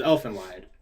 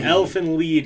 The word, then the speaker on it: Elfen Lied: Elfen Lied, because it's a German one of my Roy buddies decided to tell me how it's German, and I've been saying it wrong for years.